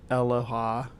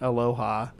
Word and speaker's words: Eloha: Sometimes the auto-generated stuff is funny to me, but she did say it like Aloha instead of Eloha. It's like it's Eloha, not Aloha.